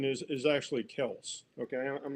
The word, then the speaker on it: Kelce: It's not Kelsey, it's Kels.